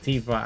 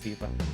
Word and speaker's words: Tifa: a right but like modern pronunciation just got me calling it tifa and people just get mad if you don't call her that so it's just easier to call it tifa even I just do it naturally now let's call it tifa sounds kind of better anyway her name's Tiffany Lockhart so to be honest with you you know Tiffer makes more sense Tiffany it's not Tiffany